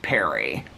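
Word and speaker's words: Pirie: So, I guess it's pronounced Perry. It's P I R I E.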